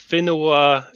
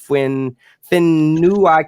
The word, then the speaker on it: whenua: But some of the words like the WH, that's pronounced as an F.